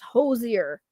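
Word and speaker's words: Hoosier: It's pronounced hosier. Okay. Or like saying who and sure together.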